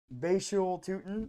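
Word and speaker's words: Bhayshul Tuten: good uh Basu toon I learned how to pronounce his name by the way bashu toon um you know he had 266 yards rushing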